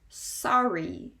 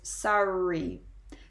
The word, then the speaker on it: sorry: it will be pronounced generally when you have the double r sound you do pronounce both r's they do kind